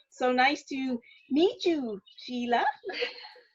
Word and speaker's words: Sheli: format and uh so nice to meet you sheila how do you say your name again shelly okay all right and christine yes you guys